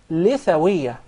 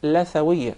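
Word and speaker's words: لثوية: It is commonly mispronounced. Some people will call it lathawiyya. Rather, in Arabic, it is called lithawiyya because we call the gum litha. Yes. So that's why it is proper to say lithawiyya.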